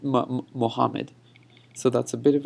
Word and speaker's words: Muhammad: second Allah is over here when I'm saying muhammadin wa ala okay and the one apart I'm